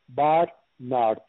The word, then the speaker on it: Barnard: Yes, it's Barnard, which is B-A-R-N-A-R-D.